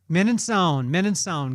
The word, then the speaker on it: Mininsohn: Mininsohn. Did I say it right? Mininsohn.